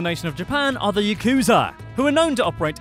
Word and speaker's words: Yakuza: The name Yakuza comes from the Japanese card game Oichokabu, in which the worst hand you could possibly get is 893, pronounced in Japanese as Yakuza.